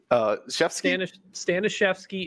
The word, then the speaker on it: Staniszewski: Bonus, that is the correct way to pronounce my name in Polish. Staniszewski is actually correct, man.